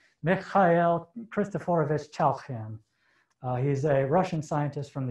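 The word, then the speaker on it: Mikhail Khristoforovich Chailakhyan: His name is pronounced Mikhail Christophorovich Chalkin.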